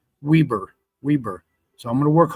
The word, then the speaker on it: Weber: Washington, Wayne, and I called it Weber the last time, but because of the power of the internet, we can reach and communicate. I got a comment back from someone that said, no, it's pronounced Weber.